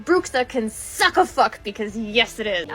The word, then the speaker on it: bruxa: to with your explain to me that's not pronounced bruxa can suck a because yes